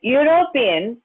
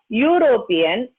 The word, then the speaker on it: European: a boy a european the word european begins with the consonant sound it is not european or it is not european it is european yo that is why and if you the pronunciation will be like this y and u together european and this sound yeah it is not a vowel sound and so we use